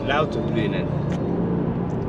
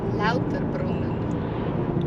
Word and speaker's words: Lauterbrunnen: Today we're going to Lauterbrunnen, which is supposedly one of the most beautiful valleys in Europe, with 300-meter high waterfalls in Father's home country of Switzerland. How do you say it? Lauterbrunnen. Lauterbrunnen.